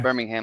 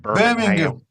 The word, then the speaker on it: Birmingham: we don't pronounce it that way though. Called Birmingham. Birmingham. Or if you're from Birmingham, it's Birmingham. Birmingham.